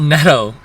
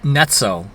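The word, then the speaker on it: Netto: But also the other thing I learned it's not we learned you learned it's not neto it's noo.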